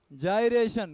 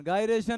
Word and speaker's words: gyration: जायरेशन, गायरेशन नहीं बोलते, गाय भैंस कोई नहीं है, जाई है।